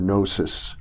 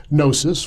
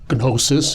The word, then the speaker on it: gnosis: Christianity well let's define that term Gnostic or nosis okay nosis well GN o s i comes from the Greek gnosis as they pronounced it it is related uh the same